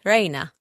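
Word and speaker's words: rani: Next one is R-A-N-I. R-A-N-I. This word is pronounced in 2 ways. One is my life. The other one is like to despise someone or to insult someone. So as my life, I'll say Reina. Reina, my life.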